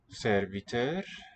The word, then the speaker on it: servitør: Servitør. En kokk. En middag. En servitør. Servitør. Sort of rising on the final syllable in this three-syllable word.